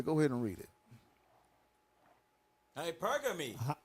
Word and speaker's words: hypergamy: Hypergamy. Hypergamy. Well, that ain't right there. Oh, I pronounced it right?